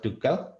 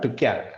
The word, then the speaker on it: Tuchel: of Tuchel.